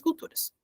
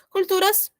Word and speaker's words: culturas: outras culturas conhecer outras culturas outras outras tá outro outro outros outros OK culturas culturas só observem a pronunciação culturas culturas Observe o l culturas a ser amigos